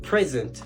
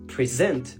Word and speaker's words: present: Par exemple, le mot present, ça veut dire un cadeau. Mais si vous dites present, ça veut dire se présenter. C'est le verbe.